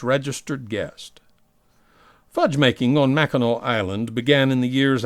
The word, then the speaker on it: Mackinac: By the way, we were advised that if we pronounce Mackinac as Mackinac instead of Mackinac, natives will call us fudgies, just tourists who